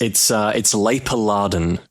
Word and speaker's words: Laperladen: It's Laperladen. Laperladen? Or Laperladen. So Laper and then Larden.